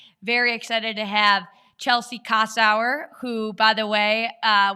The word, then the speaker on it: Kossower: in cannabis podcast very excited to have Chelsea casau who by the way uh we were just